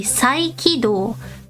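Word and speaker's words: 再起動: The next word is, repeat after me, 再起動。 Say it again. 再起動。 Okay. 再起動。 You did it great! If I make it more natural, it will be 再起動。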